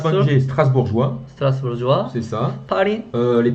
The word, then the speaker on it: Strasbourgeois: 첫 번째 Alors, 첫 번째 Strasbourgeois, 스트라스부르주와 c'est ça.